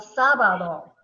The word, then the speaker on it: sábado: Saturday, el sábado. Together? El sábado. Sábado. So the accent is over the second to the last syllable, right here on BA, el sábado.